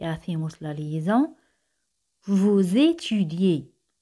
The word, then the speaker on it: étudiez: Vous étudiez. Aquí las letras E y Z se pronuncian como E española.